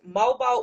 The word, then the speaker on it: MOBO: Tiny Desk performance, and you were also nominated for an award reflecting your rising influence, which is it pronounced MOBO or is it MOBO?